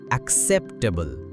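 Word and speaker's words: acceptable: এই শব্দের আইপিএ মানে ইন্টারন্যাশনাল ফোনেটিক অ্যালফাবেট হল এক্সেপ্টেবল। এটি একটি এডজেক্টিভ ওয়ার্ড। তাই নিয়ম অনুযায়ী প্রথম সিলেবেলের স্ট্রেস মানে জোর দিয়ে সঠিকভাবে উচ্চারণ করতে হবে একসেপ্টেবল।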